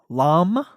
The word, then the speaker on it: Lompoc: We had to, and we headed to Lompoc.